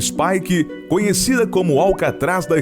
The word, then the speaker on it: Spike: Súbete a las olas hasta Spike Island (pronunciada Spaike), conocida como el Alcatraz de Irlanda y que alguna vez fue la prisión más grande del mundo.